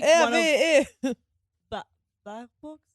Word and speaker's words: Baerbock: Baerbock's? How do you pronounce her last name?